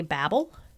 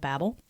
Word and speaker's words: Babel: I say Babel because that's what I've always heard is the Tower of Babel. And I did research this, and it's a difference between, English pronunciation and American pronunciation.